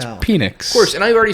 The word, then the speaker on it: Penix: how you pronounce it. It's Yeah. Penix.